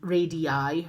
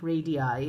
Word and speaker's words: radii: of information it says the plural of radius is read I rady radii radii is how you pronounce it and and here is